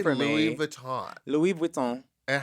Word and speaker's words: Louis Vuitton: Louis Vuitton.